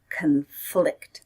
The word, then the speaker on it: conflict: noun was conflict and the verb is conflict conflict stress is on the second syllable conflict and it means to